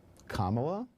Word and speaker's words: Kamala: Kamala, add a la, comma plus la is Kamala. So think about a simple punctuation mark, a comma and then a la.